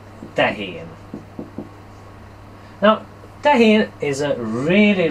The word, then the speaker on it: tehén: word is really easy it's pronounced sorry it's pronounced Tankian now that is a really really interesting Keith